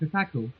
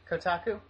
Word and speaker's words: Kotaku: it had gone it had gotten featured in Kaku you know the website Kaku Kaku I don't know how you pronounce it Kotaku yes you know it so it's because it